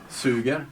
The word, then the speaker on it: suger: Now, how do you say that in Swedish? Suger. Okay. Sugar. Yeah. Like I have sugar.